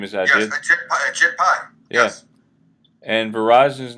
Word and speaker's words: Ajit Pai: That's what happened, and the FCC chairman, whose name rhymes with a SHIT pie, right. Was a former lawyer for Verizon. That's him. That's the, what's his name, Ajit? His name is Ajit? Yes, Ajit Pai.